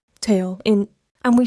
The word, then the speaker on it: 돼: First, "dwae-o" becomes "dwae". "bo-a" becomes "ba". "ha-yo" becomes "hae".